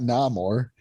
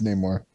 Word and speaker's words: Namor: pronounce names anyway but it's not na more namor yeah more yeah it's name more just like in common